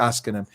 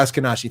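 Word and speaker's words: Ashkenazi: jewish population israel is is is from the oscar that's that's who they are and if i mispronounce it yeah askanashi thank you that's i'm a little bit off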